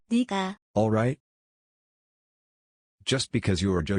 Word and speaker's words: 내가: What's unique in Korean 내가, is pronounced as. 니가.